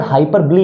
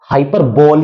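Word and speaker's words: hyperbole: देखिए ये जो वर्ड हाइपर ब्ली है ना इसको आप हाइपर बोल या हाइपर बोला नहीं पड़ेंगे इसको हाइपर ब्ली ही प्रोनाउंस करेंगे ओके देखिए एग्जांपल राम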